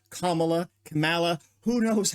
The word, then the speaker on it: Kamala: has begun you'll notice they purposefully pronounce her name wrong they say Kamala they do it all the time it is